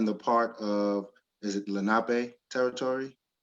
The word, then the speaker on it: Lenape: And I want to see if I'm pronouncing this correctly. Born in the part of, is it Lenape territory? Lenape, yeah, the Lenape territory.